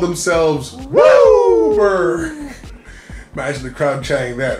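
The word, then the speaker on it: WUBRG: It's not pronounced 5 colors, it's pronounced Wooberg.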